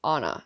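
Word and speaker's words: Ana: kept saying her name's anna and i was like okay i don't know anyone with that name she's like well she's like it's spelled a n a like anna but she keeps saying anna and she kept saying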